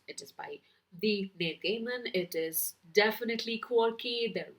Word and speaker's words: Gaiman: it comes along is the sandman by neil gaiman and yes that's how his last name is pronounced it is not guyman it is gaman i researched so i am confident that's how